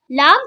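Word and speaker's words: ل: read after me lamb lamb comes from tongue touches the front roof of the mouth to pronounce la this is meme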